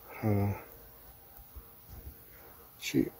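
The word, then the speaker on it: はち: And it's pronounced ha chi.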